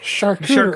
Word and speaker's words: charcuterie: You just gotta spell it like chart, but with a CH instead. Yeah, charcuterie. Char, cute, rye, board.